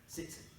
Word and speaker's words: tzitzit: Now, those tassels are called tzitzit, or tzitziot, if you're talking about plural, if it's tassels. It's spelled T-Z-I-T-Z-I, tzitzit.